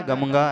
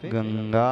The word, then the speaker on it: गंगा: कहे क्या कहा जाए चकि अंत में अनुस्वार के बाद ग है तो वह क वर्ग का है ग क ख ग तो क वर्ग का अंतिम अक्षर उसका उच्चारण होगा आप लोग उसे कहते अंगा पता नहीं क्या कहते आप लोग यहां ना वो गंगा है ना गमगा है वहां पे गंगा है नी अंतिम अक्षर का